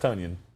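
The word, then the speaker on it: Tonyan: yeah robert tunian yeah if you want it to be pronounced tonion spell it right this is waiting on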